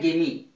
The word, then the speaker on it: gimme: इसका उच्चारण है गिमी।